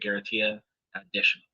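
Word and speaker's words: garantía adicional: That's how they pronounce that, garantia additional.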